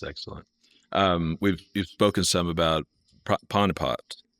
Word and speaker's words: Panipat: You've spoken some about Panipat. Panipat. I'm sorry, I'm trying to pronounce it correctly. Panipat. Is that's correct. That's correct.